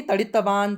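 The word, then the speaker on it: तडित्वान्: तड़ितवान, तड़ितवती, तड़ितवत, आधा है तो आधा ही उच्चारण, यानी तड़ितवान, तड़ितवती, त का उच्चारण पूरा नहीं करना, उच्चारण पर भी ध्यान देना है, ठीक है।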